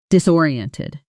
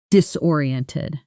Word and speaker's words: disoriented: That's disoriented. Shadow it. Disoriented. Disoriented. Five syllables. dise and TED stress on the second syllable.